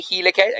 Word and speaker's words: helicase: DNA helicase so DNA helicase again the helicase sounds like the word helix remember the shape is